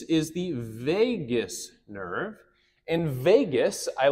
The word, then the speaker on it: vagus: And vagus, I like to translate to wanderer, okay? The reason I kind of laugh at this one is because vagus sounds like the word Las Vegas, where there are a lot of wandering souls.